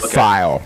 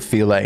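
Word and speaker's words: filé: It's spelled like the word file. It's file. Yeah. I have that actually. But it's pronounced filet.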